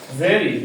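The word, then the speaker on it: very: দ্যা ভেরি ডে ভি ভি এর উচ্চারণ হচ্ছে ভে হ্যাঁ ভেরি ভি সেই দিনেই মানে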